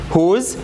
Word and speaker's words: whose: to ask about position whose w is silent and now we have